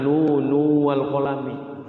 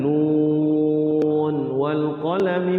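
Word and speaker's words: ن والقلم: diizharkan ya diizharkan semua kayak nun walqami w yasturun jangan nu walqalam iya jadi diizidizharkan nun walqalami w yasturun tidak di tapi dijelaskan ininya nun wal qalami nnya itu dijelaskan Ya, izhar ya nunnya kan ee panjang enam harakat.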